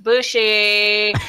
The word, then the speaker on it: bougie: upscale from a blue-collar point of view Fuji pronounced bushi is a half rotation of the word bourgeoisie